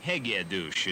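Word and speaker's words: Hegedűs: of hegades you see hegedis is a hungarian name hegedouch is the local pronunciation with a name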